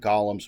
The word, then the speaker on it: golem: He's got these three giant golems with him, or golems. I know people pronounce it differently. I always say golem.